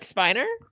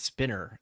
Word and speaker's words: Spiner: misspelled his last name it says spinner like no it still says spiner you're just not pronouncing it properly there's no double ends in Mhm.